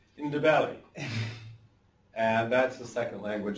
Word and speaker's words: Ndebele: And if you want to know how to say the Ndebele, you just have to say in, da, and then point to your belly. Ndebele.